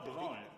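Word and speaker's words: Bransle: Oh, Bronne. The S is silent. It's one of the. It's from Old French.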